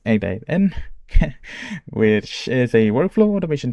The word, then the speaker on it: n8n: I am today going to be presenting about my self-learned topic uh which is N8N it's pronounced N8N which is a workflow automation tool that has